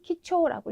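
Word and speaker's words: 貴重: 그래서 지금처럼 귀중인 경우에는 키초라고 읽어주셔야 되고 또 예를 들어서 신중이라던가 이런 단어들도 신초라고 이제 읽어주셔야 되는데요.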